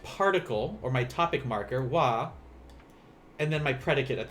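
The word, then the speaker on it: は: a which is hot but in japanese this ha will always be pronounced as wah instead so imawa rokujides why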